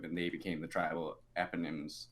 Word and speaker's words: eponym: two sons, Manasseh and Ephraim, were adopted by Jacob, and they became the tribal eponyms. Eponyms? How do you pronounce that, Scott?